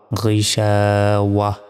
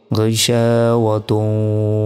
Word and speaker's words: غشاوة: এখানে যদি থামি তাহলে এই যে গোলতা রয়েছে, এই গোলতার উচ্চারণ হবে না। যদি থামি তাহলে এখানে ছোট হার উচ্চারণ হবে এবং শেষ অক্ষরে সাকিন দিতে হবে। তাহলে উচ্চারণটা হবে ওয়াও হা জবর ওয়াহ, غيشاوة। এখানে হার উচ্চারণ কেন হলো? কারণ আমরা থেমেছি তাই হার উচ্চারণ করলাম।